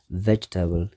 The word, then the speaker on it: vegetable: ቁኑዕ pronunciation ናቱ ግን vegetable ሰለስተ syllable ኣለዎ vegetable እቲ stress ኣብቲ ቀዳማይ syllable ማለት እዩ vegetable ካልኣይ cucumber ብዙሓት ሰባት